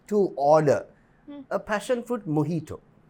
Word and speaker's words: mojito: For absolutely no reason, the J is silent.